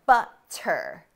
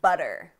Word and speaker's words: butter: Americans say water, waiter, and butter. Head scratcher, right? Okay, well, we don't pronounce the T. Instead, we say these words with a D sound in a few scenarios, and I'm going to explain.